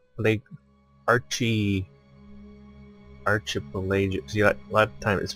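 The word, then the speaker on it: archipelago: the equator a tropical climate yeah dead fire Archie pelagio lake Archie Archie pelagic CEO at what time is pronounced arch but in the case of me it's pronounced pronounced arc arc st.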